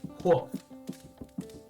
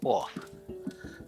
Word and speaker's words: hof: Hof. Off. It's like, okay, the word hobble or like hoffle. You know, you pronounce the H.